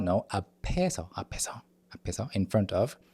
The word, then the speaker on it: 앞에서: 앞에서, the 피읍 at the end of the first syllable carries over to the second syllable. 앞에서, no, 앞에서, 앞에서, 앞에서, in front of.